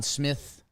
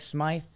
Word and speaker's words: Smythe: He wins the Conn Smith. I think it's Smith, but it's spelled like Smythe. Or is it Smythe? Chat, let me know.